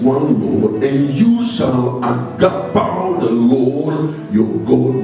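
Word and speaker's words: ἀγαπάω: It's not agape. A-G-A-P-A-O. A-G-A-P-A-O. Pronounced agapao.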